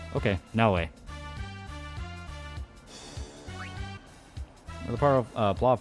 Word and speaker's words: Naoe: Pronounced Naoe. Okay, Naoe.